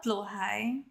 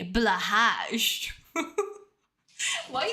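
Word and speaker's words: Blåhaj: woman oh I guess I did say it blue high my beloved I love blo high so cute or as as apparently Americans say blah why the would you pronounce BL as blah that doesn't even sound Swedish you heard the queen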